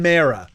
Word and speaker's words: Mara: I think you're saying Mara. Like emphasis on the A's.